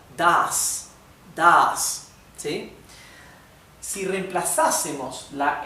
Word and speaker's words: das: Das la set ahí no solamente indica que esto se pronuncia, una s suave, sino también indica que la a ha de pronunciarse larga. Das.